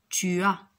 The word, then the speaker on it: tu as: Très bien, il faut respecter aussi l'enchaînement, c'est-à-dire on va dire tu as, il a, elle a. Très bien. Regardez ici le S, ici, le S n'est pas prononcé, on ne dit pas tu as, tu as, d'accord?